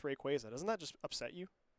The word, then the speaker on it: Rayquaza: Yeah, I just found out recently that it is actually pronounced Rayquaza. Doesn't that just upset you? Is it really Rayquaza? It's Rayquaza.